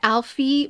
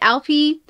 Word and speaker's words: Alpi: I think I pronounced it Alfie, but Alpi.